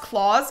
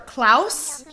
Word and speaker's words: Klaus: dress and the hat it's not pronounced claws oh how do you pronounce it well then he's on the from my island anyways clousy or klaus like blouse klaus oh well i don't